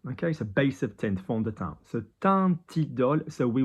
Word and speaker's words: fond de teint: So F-O-N-D, fond, O-N, so on, fond de, D-E, no accent on the E, fond de, teint. Teint, nasal because there's an N there and there's not a consonant, there's not a vowel after the N.